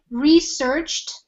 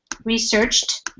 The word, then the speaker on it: researched: they this person had researched so the pronunciation for research is with like a t researched researched the organization and